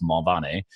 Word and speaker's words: Mulvaney: name is Mulvaney or if you're in Ireland it's pronounced mall Bonnie and I did not like go out and party I didn't go hit the st.